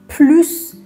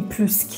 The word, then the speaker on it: plus: میخوایم میگیم بیشتره ولی چون ک یه اجکتیو روشنه اجکتیو پس میگیم پلو نمیگیم پلوس ک اگه بگید پلوس ک